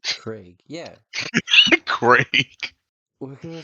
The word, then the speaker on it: Craig: Throughout like my time in the U.S., like I'd always say Craig, and all of my all my American friends were confused as terms of why I pronounce it like that. Like who the fuck says Craig? Americans. It's not an E, it's an AI.